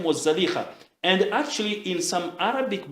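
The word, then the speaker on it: زليخا: So, because there is no ta' marbuta, many scholars say it's better to pronounce it as Zalikha, not Zulaykha.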